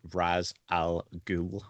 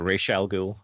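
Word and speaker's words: Ra's al Ghul: macbeth himself the the raz al ghul yes not not racial or if you're supposed to pronounce it um i love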